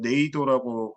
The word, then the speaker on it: NAYDO: 그 제가 자리를 보니까 naydo 해서 네이도라고 읽는다고 약칭으로 하는데 이제 다녀오셨던 내일도 프로그램에